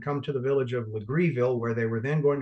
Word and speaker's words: Legareville: Island you follow to the left you'll see legreeville looks like legareville it's pronounced with greedy legreeville right across the Stone Oak River from the